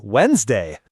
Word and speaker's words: Wednesday: Pronunciation in English is wild sometimes, like Wednesday, spelled like we d nest day, but we say Wednesday.